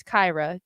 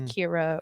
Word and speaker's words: Kyra: there together um but my sister's name is kyra to pronounce it correctly not kira or you know people